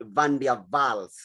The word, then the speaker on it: van der Waals: of german origin and in german they pronounce w as v so we ought to say van der vaals van der waals forces